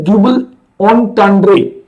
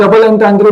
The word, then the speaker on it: double entendre: लिया गया शब्द है, इसकी जो प्रोनाउंसिएशन है वो होती है डुबल, डबल नहीं बोलते, डुबल ऑन्टांड्रे, डुबल ऑन्टांड्रे बोलते हैं इसको। आप डबल एंटांड्रे बोल सकते हैं, आपकी मर्जी है, उसमें कोई दिक्कत नहीं है।